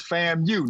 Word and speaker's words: FAMU: could be man ow Ben you got to say it right now it's FAMU now FAMU not FAMU FAMU not like Shamu FAMU as Florida A&M